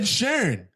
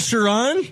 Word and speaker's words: Sheeran: just said Ed Sheeran. It's not Sharon.